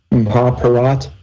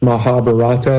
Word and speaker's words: Mahabharata: the hawk or at that's how you I'm told you pronounce it Impala rat not Mahabharata like it's spelled Mahabharat or the Mahabharat